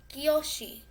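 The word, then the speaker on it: 教師: Kiyoshi. Kiyoshi. It's spelled K-Y-O-S-H-I.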